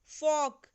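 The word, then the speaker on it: folk: फोक, एल is silent hair, तो यहाँ L silent है।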